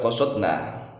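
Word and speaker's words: قصدنا: Tapi qasadana al kafi itu para ulama lebih memilih dalnya disukun. Jadi nanya yang menjadi fa'il, al kafinya menjadi maf'ul bih. Sehingga tetap dibaca qasadna.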